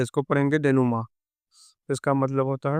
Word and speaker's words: denouement: डेनुमा बहुत लोग उसको गलत पढ़ेंगे कि उसको पढ़ेंगे डेनूमेंट और उसको अलग अलग, लेकिन इसका सही प्रोनाउंसिएशन उच्चारण है डेनुमा।